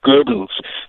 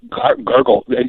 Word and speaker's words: Goebbels: and Joseph Goebbels actually his name should be pronounced Goebbels not gurgel Joseph al Sharpton pronounces his name is gurgle in other words and